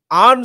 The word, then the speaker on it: Arne: आर्न slot ने बोला कि डच जो तरीका होता है उसके नाम को प्रोनाउंस करने का, वो है आर्न, आर्न slot. आर, you have to role your hours, and basically अगर उनको,